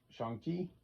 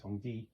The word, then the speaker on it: Shang-Chi: We got Shang-Chi, or actually Song-Ji is how it's pronounced.